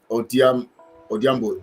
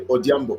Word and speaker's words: Odiambo: Odiambo is the pronunciation. Okay, Odiambo.